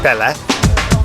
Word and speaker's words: Palle: Yeah, Palle. That's my name. Palle? Yeah. How do you spell it?